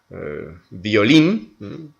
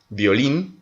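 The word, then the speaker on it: violín: Nous avons par exemple violin, violin, le violon, violin, on prononce donc comme si c'était un B.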